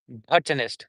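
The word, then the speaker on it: botanist: Botonist would be in the British English botonist. And in American English it would be bonist.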